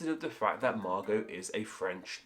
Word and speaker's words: Margot: think is strangest anyway that being the te at the end of the name Maro now there is a of this name without the te there but the version with the tea is far more popular and of course we don't say this name isn't Margot it's Margo so why is that